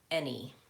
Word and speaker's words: any: have in this category but what about the word any that's spelled with an EI a and why any hmm so any black cat any black cat no that's not the same Bo any day any day again different well any law any law